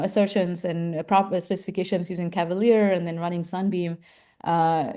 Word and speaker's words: CVLR: And so for example here this CVLR uh which we pronounce as Cavalere uh CVLR assert uh